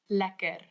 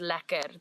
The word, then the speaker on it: lekker: Lekker.